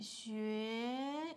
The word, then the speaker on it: 学: 学习汉语。You know, how to say Mandarin, 汉语。Okay, 学 is rising tone.